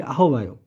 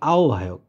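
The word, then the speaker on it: আহ্বায়ক: 11 এর খাওভায়ক আহভায়ক তাহলে আমরা যেটাকে বলি আহবায়ক ওইটার আসলে সঠিক উচ্চারণটা হলো আওভায়ক আহভায়ক স্বরে আও আকারে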